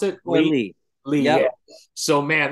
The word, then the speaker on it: Leigh: Is that how you pronounce it? Leigh.